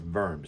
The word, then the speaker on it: Worms: worms or worms but in German it's worms W's are are V's as in Vagner the great